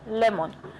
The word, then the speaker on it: lemon: Donc la prononciation c'est lemon. Quand tu vois le mot écrit, tu te dis que c'est simple. Tu aurais prononcé simplement lon. La prononciation c'est lemon. Lemon.